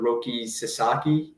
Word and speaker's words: Roki Sasaki: still waiting on that Japanese guy uh Mr Roki Sasaki is is how you pronounce yeah he's he's gonna be a padre